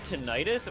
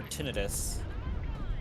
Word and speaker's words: tinnitus: Do you pronounce it tinnitus or tinnitus? I pronounce it tinnitus. That's what I thought too, but the doctor I work for pronounces it tinnitus. I'm like, huh? It's one of those things where it's Audire, can be either okay.